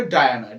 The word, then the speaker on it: Dinah: এবার তার ভাবনায় কি আসছে, ডায়ানা, এখানে উচ্চারণটা কিন্তু খেয়াল করবে, ডায়ানা, DINAH, ডায়ানা।